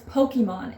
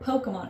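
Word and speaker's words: Pokémon: I was like, it's Pokemon. It's not Pokemon. And granted, he is like a super fan, like, knows way more than I will ever know about Pokemon.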